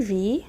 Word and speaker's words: vis: Tu vis, don't pronounce the S at the end, okay?